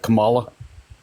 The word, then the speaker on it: Kamala: Her name is pronounced Kamala Harris.